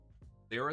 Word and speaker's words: Lyra: I've been pronouncing that wrong since I was a kid, to be honest. Like liar?